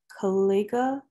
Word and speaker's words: Kalega: I'm gonna probably pronounce this wrong, but Kalega? Hey, well, first of all, you did pronounce it right. Kalega is correct.